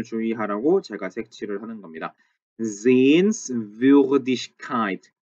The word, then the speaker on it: Sehenswürdigkeit: 얘는 원래 sehenswürdig가 있었고 이걸 명사로 만드느라고 kite를 붙여준 거기 때문에 그 발음을 살려서 sehenswürdigkeit라고 읽어주는 게 맞습니다.